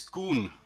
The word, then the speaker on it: Koen: Oh, it's Koen. We all know it. If you pronounce it like if it's spelled like COON, it's a bit derogative that way. But that's how you pronounce it in my language.